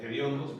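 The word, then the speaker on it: hediondo: va a salir fácil que es el gediondo se con h todo el mundo lo pronuncia con aspirando aspirando H.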